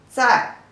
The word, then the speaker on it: 在: The pronunciation is 自爱在, the fourth tone.